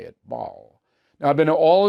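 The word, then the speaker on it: Basel: That's how you say it, Ball.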